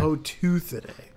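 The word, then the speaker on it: Octopoteuthidae: Octopoturthidae. No, because it's the T. Octopoturthidae. But the how Octopoth. Yeah, you got to put that T in there. Octopoturthidae.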